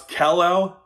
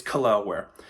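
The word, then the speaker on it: Jaquez: kle um I when I when I did a draft video of him I I pronounce Kell which is now I know it's I know is a butchered name so I apologize if you're watching this video somehow it's kware uh kware commits a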